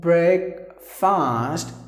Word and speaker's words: breakfast: Two adjustments you gotta make. One, here, not A. Break, like A. Break, not fast, first. Just imagine there is I instead of the letter A. So you say breakfast, breakfast.